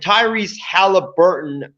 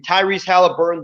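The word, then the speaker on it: Tyrese Haliburton: was awful um and tyrese halliburton is that i think that's how you pronounce his name tyrese halliburton the guard out of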